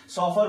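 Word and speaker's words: chauffeur: सॉफर बोलते हैं, ऐसे इसका प्रोनाउंसिएशन होता है सॉफर।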